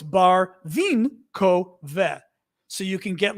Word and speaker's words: Barvinkove: So they go, oh, it's Barvin ko ve.